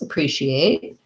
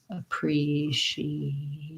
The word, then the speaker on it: appreciate: appreciate your question and to pronounce appreciate appreciate um we have second syllable stress the tense vowel e so thinking about it like pre this letter a is